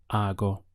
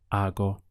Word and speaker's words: hago: conjugation is are go notice the silent H and the pronunciation starts here I go how would you say I do it lo hago I don't do it no lo hago in Spanish there's a